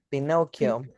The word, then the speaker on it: Pinocchio: And the last one, Irene, Mm, eh, ¿Se pronuncia igual Pinocho o Pinocchio, Pinoch? Pinocchio. Pinocchio.